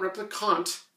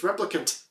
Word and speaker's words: replicants: as replicants it's not replicons but everybody in the comments of my video keeps saying it's not replicons it's replicants and I have said